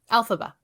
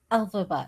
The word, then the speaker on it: Elphaba: Alphaba. Elphaba, yes.